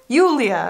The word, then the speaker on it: Julia: Julia. Yeah, that's the German version again. No J, but Y.